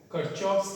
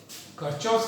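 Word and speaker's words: Kirchhoff: कुछ लोग किरचॉफ भी बोलते हैं, कुछ लोग किरचॉफ भी बोलते हैं। प्रॉपर नाउन है, कुछ भी प्रोनाउंसिएशन आप यूज कर सकते हैं, लेकिन सबसे ज्यादा चलता है किरचॉफ।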